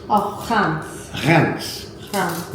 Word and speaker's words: Reims: It's Reims. Oh, Reims. Reims. Reims. Why they pronounce it with an N, I don't know, but they do.